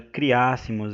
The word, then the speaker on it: criássemos: A palavra criássemos é uma proparoxítona, né? Como eu separei aqui para mostrar para vocês. Criássemos é uma proparoxítona, né? E recebe o acento tônico na antepenúltima sílaba, né?